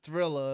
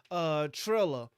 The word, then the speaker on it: Triller: I was calling him Thriller up until I had to spell it. Triller.